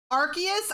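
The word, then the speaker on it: Arceus: Archus.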